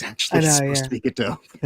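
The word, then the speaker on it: Godot: Everybody calls it go dot, but it's it's actually supposed to be GDO.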